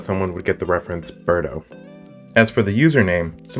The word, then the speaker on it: Berto: actually made it a little bird because everyone pronounces my name ber Toe with a hard T it's actually pronounced Berto